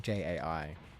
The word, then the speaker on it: Jai: It seems to be, I notice a lot of Indian people, if they are called J, they are spelt J-A-I. And it is pronounced J.